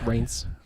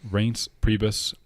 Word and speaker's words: Reince Priebus: I never know how to pronounce that name. Yes, Reince. Reince Priebus.